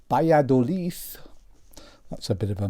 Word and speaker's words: Valladolid: most people and have they ever heard of Valladolid or to give it its proper Spanish pronunciation by a Dilys that's a bit of a mouthful and most